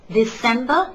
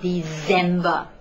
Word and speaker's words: December: Take note of the pronunciation of this last month. It is December and not December, like most people will say.